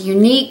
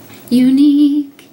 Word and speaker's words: Younique: It's Younique, spelled with a Y. And Younique.